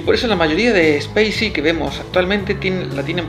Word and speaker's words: Spay-C: Lo cual es un triple juego de palabras, ya que Spacey se escribe Space guión la letra C, lo cual suena muy parecido a Spacey como algo espacial y también suena parecido a Spicy, picante.